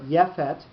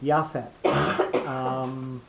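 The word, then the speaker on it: יפת: So words at the end of a biblical sentence will have a lengthening of their vowel sound. So Yefet turns into Yafet.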